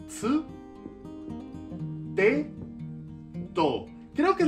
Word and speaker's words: つ: Aquí no es tu, es tsu.